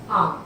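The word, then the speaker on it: आँख: जा रहा है, जैसे आंख। बेटा आंख में अंक की बिंदी की जगह चंद्रमा लगता है, ये होता है सही उच्चारण भी और सही शब्द।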